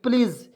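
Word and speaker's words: please: एस ई प्लीज तो पी से आधा प एल ई ए इसका उच्चारण जो हो जाएगा ली के रूप में और एस का उच्चारण ज के रूप में होगा तो दोस्तों इसे पढ़ेंगे प्लीज प्लीज में से एक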